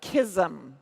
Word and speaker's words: KSM: is the open beta of kisum so that's the way that we pronounce it KSM and so this again